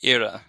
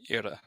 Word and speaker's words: iora: So in Irish that would be ira, I-O or a, ira.